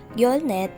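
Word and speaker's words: 열넷: number 13 in korean is your set yo set again number 13 in korean is yolsen 14 is yo net in korean say it with me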